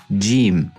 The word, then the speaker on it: ج: Jeem. It's pronounced from the middle of the tongue and the roof of the mouth.